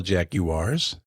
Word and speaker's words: Jaguar: That's what ignorant people say when they don't know how to pronounce words. There's no I in Jaguar.